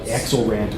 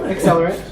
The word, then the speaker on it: Accelerant: I keep looking at like Axelrant or something. No, Accelerant. And it's even got a flame logo, so it makes sense.